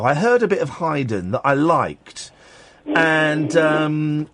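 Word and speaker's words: Haydn: little bit of um heyden I think that's how it's pronounced is that and you're surprised I I pronounced it um correctly aren't you whistle me one cuz most people say Hayden well I've got um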